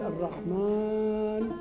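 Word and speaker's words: الرحمن: et il nous dit lorsque vous prolongez al Rahman vous l'imaginez que vous l'avez dit la prononciation des Elif seette fois donc vous le répétez et vous le promz vous dites al Rahman et lorsque vous dites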